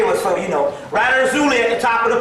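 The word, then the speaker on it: Erzulie: of the paper, this word, I want to spell it, E-R-Z-U-L-I-E. Erzuli.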